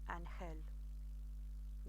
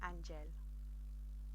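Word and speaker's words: ángel: come across let's say the word angel and who it would be literally and he'll not angel and he'll but this rule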